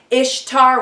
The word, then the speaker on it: Ishtar: You'll see her mentioned as Isis, Ishtar, which is pronounced Easter, which is not a coincidence.